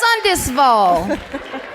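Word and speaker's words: Sundsvall: It's my birthday and it's pronounced Sundisville.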